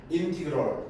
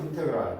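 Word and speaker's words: integral: 그리고 이놈의 교를 어떻게 읽는다? 인테그랄 이런데 인티그럴 또는 인테그랄, 그렇지? 우리 코리안식 발음하면 인테그랄. 오케이?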